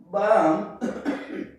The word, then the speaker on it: balm: At the end of the word, between A and M, L is silent. Like calm, balm, palm, psalm.